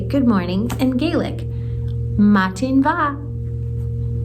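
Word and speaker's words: Madainn mhath: Matin va. Matin va. It's spelled all kinds of wonky, but I'm pretty sure that's how you say it.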